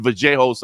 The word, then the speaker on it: Vallejos: I know he uses the Argentinian pronunciation, Vallejos, I believe, but he looks like an absolute stud to pay attention to.